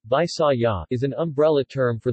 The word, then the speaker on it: Bisaya: The Visayans, Visayan, Mga Bisaya, local pronunciation, Bisaya, is an umbrella term for the Philippine ethnolinguistic